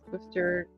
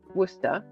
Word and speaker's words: Worcester: Worcester, pronounced Worcester, Worcester. Not sure about Worcester, Mass. Yeah, it's pronounced Worcester, Mass, I think.